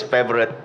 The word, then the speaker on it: Favoriot: If you look at the names itself, it's not pronounced as FAVORIot or FAVORIot. So it's favorite is the right pronunciation.